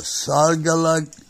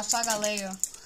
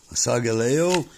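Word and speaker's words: Solgaleo: And Sogaleg. How do you say it? Sogaleo? Yeah, Sogaleo. Sogaleo.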